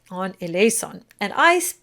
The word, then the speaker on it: eleison: is the S on eleison. And I pronounce it, it's force of habit, I do it as a soft S. But also the Z sound is perfectly correct.